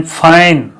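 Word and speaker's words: fine: इसी तरह से एफ ए एन, फाइन, एफ ए एन, फाइन, फैन नहीं, एफ ए एन, फाइन, यानी ए का उच्चारण आई के रूप में हम लेते हैं।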